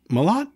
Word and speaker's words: Malott: I mean, is that Malott? Yeah, it's Malott. Everybody says it wrong. Yeah, Malott. The announcers say it wrong.